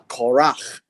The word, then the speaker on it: Korach: you read now the the quran actually uh in in a proper pronunciation is uh korach the son of uh